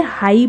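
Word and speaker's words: high: Next है आपका हाई, अब देखो HI को हा और GH को साइलेंट है, इसलिए हाई पढ़ेंगे इसे। नेक्स्ट है आपका फ्लाई, FLI,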